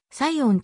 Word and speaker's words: Psion: はサインコンピュータ plc サインの p は silent letter なのでサイオンと発音する社名は設立者